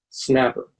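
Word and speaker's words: SNAPR: letters for example the spelling of the s and apr departure is pronounced snapper the starts on the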